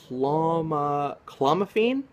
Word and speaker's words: clomiphene: Actually, it's cloma clomiphene. Clomiphene, I believe that's how you say that.